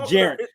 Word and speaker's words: vicegerent: one will be the vicegerent for the Creator. Oh, a vicegerent. I thought you said a gerund. No, I said gerent. I pronounced it with the T clearly.